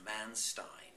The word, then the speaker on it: Manstein: Manstein, or Manstein, as he would be pronounced phonetically over here, is one of the classic examples of what Hitler did unexpectedly to break his mold.